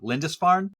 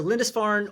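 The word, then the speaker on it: Lindisfarne: Lindesfarn. Is that how you say? That's right. Well done. Yeah. Good job. Yeah. So Lindesfarn or Holy Island is probably easier to say, but that's what it is.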